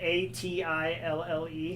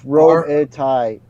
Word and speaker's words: Robitaille: Is it Atille? It's Robitaille. Yeah, Robitaille. Okay.